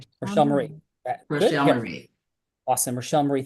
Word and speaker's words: Rochelle: Is it Rochelle? I want to make sure I pronounce it correctly. Rochelle Marie. Rochelle Marie.